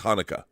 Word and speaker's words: Haneke: How do you pronounce his last name? Michael Haneke. It is Haneke.